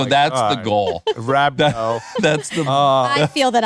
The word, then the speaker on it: rhabdo: Yeah, rhabdo.